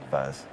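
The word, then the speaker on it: PhuZ: based that's F right how do you pronounce fuzz F call it fuzz yeah what does it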